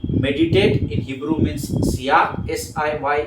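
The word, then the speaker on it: siyach: वो लिख लीजिए मेडिटेटर मींस सियाक कहा जाता है उसको सिया क है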